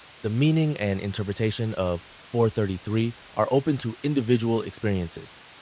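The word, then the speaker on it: 4′33″: John Cage's 433 pronounced 4 minutes 33 seconds is a musical composition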